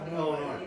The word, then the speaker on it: Illinois: Illinois. Washington and Illinois. What's a silent letter in Illinois? S. S. Nice job.